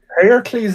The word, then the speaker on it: Heracles: Uh Andreas, the champion of Hercules or Heracles, however you want to pronounce it. He was also being judged because he correct. Heracles is correct. So yes, probably it's Heracles.